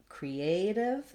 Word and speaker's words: creative: Creative and native both have the stress on the A and they have the diphthong A, so it's a long vowel there. They also both have that flap, so they have the same ending as initiative. The div is short and unstressed. For creative, the letter E does say the tense E sound here. Create, creative.